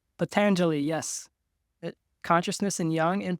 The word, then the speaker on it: Patanjali: Patanjali. Patanjali, yes.